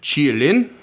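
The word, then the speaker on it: qilin: So, from I'm going to do my best, but it's supposed to be pronounced something along the lines of chi-lin. And so, this creature, the chi-lin, um is considered a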